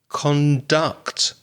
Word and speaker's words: conduct: your conduct how you conduct yourself so if you're listening carefully you may have noticed the stress change on the word when it's a verb the second syllable is stressed conduct please conduct yourself